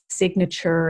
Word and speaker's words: signature: in related words like signature and signal the G is not silent it's also not always